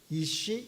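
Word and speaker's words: איש: 비슷하지요? 발음이 이쉬 이샤.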